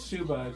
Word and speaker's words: Suba: It's Suba. It rhymes with tuba. So think of tuba, S-U-B-A.